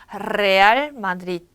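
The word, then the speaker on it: Real Madrid: 이랬을 때 레알 마드리드. 이렇게 발음하시는 게 정확한 표현이에요.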